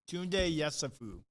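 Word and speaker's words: Tounde Yessoufou: Tunde Yesufu.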